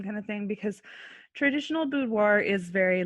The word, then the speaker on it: boudoir: Just real quick, for anybody that doesn't know, would you just mind explaining what a boudoir how do you say it again?